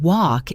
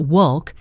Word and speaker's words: walk: The word walk is tricky for many learners. The L is completely silent. It's not wolk, it's just walk. Walk.